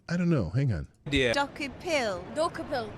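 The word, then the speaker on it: Dokoupil: Dokupil. Dakupil. Not bad. You got the syllables right. Dokupil. Decopel, close. I'm Tony Decopel. I work for... Tony Decopel. Okay, that's how you say his name.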